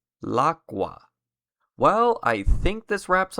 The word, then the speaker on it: l'acqua: For an example, instead of writing or saying the definite article and noun separately like this, in French, instead of saying la eau, and Italian, instead of saying la acqua, you would write it and say it like this. In French, it is l'eau. In Italian, it's l'acqua.